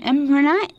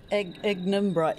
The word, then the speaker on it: ignimbrite: Now, that's an imbrite. Is that how you say it? Imbrite? Ignimbrite, yeah. A bit of a mouthful.